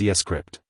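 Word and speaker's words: scrypt: the sha256 algorithm while Litecoin uses scpt pronounced escript though this means that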